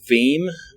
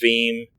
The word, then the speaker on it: Veeam: But for backups, a great tool that we've been using recently, it ties in with VMware, is called Veeam. VEAM, I think is how it's spelled.